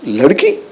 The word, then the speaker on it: Ladki: So in my, it's not like Ladki, it's Ladki.